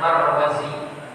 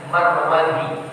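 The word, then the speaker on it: المروزي: Abu Bakar almarud yaan Kalau tulisannya begitu mim ra wau dalal dan ya itu bacanya Mari tapi kalau setelah wau itu Zaid setelah wau itu Zaid mim ra wau maka bacanya marwazi J marwazi sering y e lihat banyak sekali yang baca ini dengan Marwadi gak ada Marwi Mar tapi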